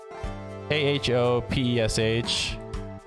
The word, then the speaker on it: khopesh: K-H-O-P-E-S-H. Let me check out the pronunciation. It's just Khopesh.